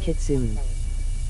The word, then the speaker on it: Kitsune: ERM, it's actually pronounced Kitsune.